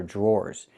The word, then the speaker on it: drawer: Pronunciation. The DR makes a J sound like in juice and jump. Plus the R, jr. Then we have the OR sound like more and door.